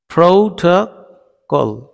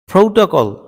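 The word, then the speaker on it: protocol: এখানে 3টি ও রয়েছে একটি ওয়ার্ডে, যেটাকে আমরা সবসময় বলি প্রোটোকল। ঠিক আছে, দেখো উচ্চারণটা আছে প্রোটোকল, প্রোটোকল। প্রথম ও সেটি হয়েছে ও, দ্বিতীয়টি হয়েছে আর তৃতীয়টি হয়েছে অ।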